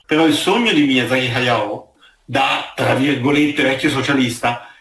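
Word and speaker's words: 駿: La maggior parte dei giapponesi lo chiamavano Miyazaki Shun, perché il kanji con cui si scrive Hayao si può leggere anche Shun, è della lettura più comune.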